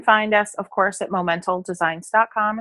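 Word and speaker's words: Momental: yeah you can find us of course at mo mental designs com it's the word moment with an Al on the end it's always mispronounce but moment old designs calm and just dive in that's where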